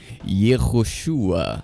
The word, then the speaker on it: Yehoshua: Esse sinal representa categoricamente a vogal u, fixando a pronúncia histórica como chu. Para soar como chá, o texto deveria trazer um traço horizontal, que é o patar, o que não existe no documento. O nome termina com a consoante gultural. Ain, acompanhado de um patar furtivo que dita a pronúncia final em ua, ficando assim eua.